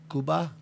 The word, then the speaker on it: Cuba: the way something else Cuba and I'm Cuban I say it a lot I believe it's pronounced Kuba did you notice something